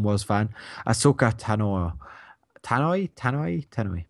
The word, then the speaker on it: Tano: fan Ahsoka Tano Tano tanoi tanoi not sure how to say her second name but I think it's Tano aoka tanoi and uh